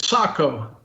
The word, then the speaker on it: Sako: rk the valmet or seiko sako seiko how do you say that some people say seiko some people say psycho well officially at saco but we're americans we can say seiko camino nobody stopped me